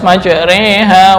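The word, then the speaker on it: مجراها: Kenapa kok cara membacanya harus majreha wa mursaha? Nah, ini yang disebut dengan farash, hanya berlaku pada lafal ini menurut Hafiz dan nggak bisa dikiaskan ke lafal yang lain.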